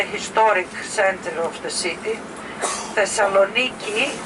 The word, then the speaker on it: Thessaloniki: Thessaloniki, as is the Greek pronunciation.